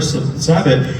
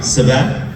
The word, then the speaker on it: Sabat: Christopher Sabat. He wanted to know if you I could think you're saying his summarize last name wrong. Sabat?